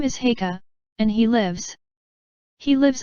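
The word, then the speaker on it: Haigha: His name is Heika." He pronounced it so as to rhyme with mayor.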